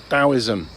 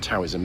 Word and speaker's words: Taoism: It's not Taoism, it's pronounced Taoism, spelled Taoism.